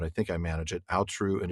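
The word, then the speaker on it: Aotrou: recently the story of Kulervo and the lay of I I still think I'm going to mispronounce this every time but I think I manage it alru and atrun you did it right yay always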